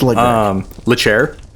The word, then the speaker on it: Leclerc: 2018, Charles Leclerc, however you want to pronounce his last name. It's Leclerc.